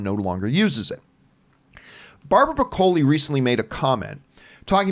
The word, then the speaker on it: Broccoli: Anyway, and I've always said Barbara Broccoli, but apparently it is actually pronounced broccoli.